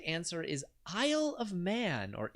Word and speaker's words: Isle of Man: britain and northern ireland the correct answer is isle of man or isley of man if you want to mispronounce it 69 stop that manx that's pronounced